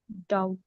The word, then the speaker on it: doubt: Doubt. Doubt. Doubt. rule says uh when we have B and T together we drop the sound of B.